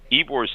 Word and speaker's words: Ybor: And for those of you out there in the listening world, Ybor City, and it's spelled Y-B-O-R, is pronounced Ybor.